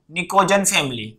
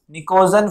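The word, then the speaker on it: pnictogen: ठीक है, और इसको हम क्या बोलते हैं बच्चों, इसको हम बोलते हैं ये वाली फैमिली को निकोजन फैमिली। ठीक है, पी साइलेंट होता है, निकोजन फैमिली।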